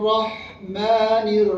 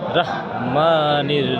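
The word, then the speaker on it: الرحمن: রাহিম আচ্ছা এরপরে বিসমিল্লাহির রাহমানির রাহিম বিসমিল্লাহির রাহমানির রাহিম অনেকে বলে বিসমিল্লাহির রাহমানির রাহিম রাহমান রাহিম রাহমানির রাহিম সবাই বলে বিসমিল্লাহ রহমানুর রাহিম বলে রাহমানুর না রাহমানির রাহিম রাহিম বিসমিল্লাহির রাহমানির রাহিম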